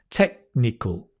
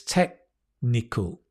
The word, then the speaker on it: technical: great word technical tech technical I just realized the K almost disappears it's not technical it's technical because the C and the N are kind of well the C is at the back technical technical technical technical